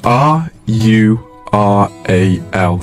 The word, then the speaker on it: rural: of course I can it's r u r a l but it makes a sort of r o o sound like rural okay r r a